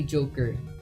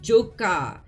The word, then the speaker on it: Joka: you call me and she was like okay joker and he was like no say joka he like corrected her